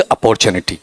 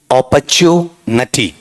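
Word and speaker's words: opportunity: ऑपर्चुनिटी। Nitty या नटी? ऑपर्चुनिटी। बोल के बताओ क्या है? ऑपर्चुनिटी। नटी है ना, उस हिसाब से याद रख लो, नट्टी नहीं, नटी वाला पार्ट।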